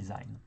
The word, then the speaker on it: zine: mise en quarantaine et zine aqua prononcé ici zain alors la deuxième chose